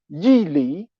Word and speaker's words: Yi Li: And he will boost what is called the school of meanings and of principle, Yi Li, Y-I, Yi Li, L-I at the third tone, as opposed to the